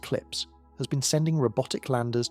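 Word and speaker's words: CLPS: NASA's commercial lunar payload services program, known by its abbreviation, which is pronounced clips, has been sending robotic landers to the lunar surface.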